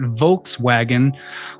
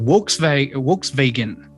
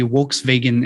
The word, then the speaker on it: Volkswagen: languages they pronounce it works vegan you know so the the v and the w enunciation is inverted the w is pronounced as a v and the v is pronounced as a w because of this um